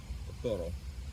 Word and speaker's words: toro: Toro. Toro? Is it 2 R's or one? 1 R. Yeah, toro, yeah.